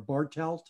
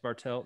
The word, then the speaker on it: Bartelt: And you had a co-author, William Bartlett, with you here, or Bartelt, is it pronounced? Yes, Bartelt, uh-huh.